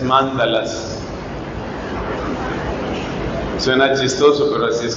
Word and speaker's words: mándala: budistas que se llaman la gente pronuncia mandalas pero creo que la pronunciación correcta es mándalas suena chistoso pero así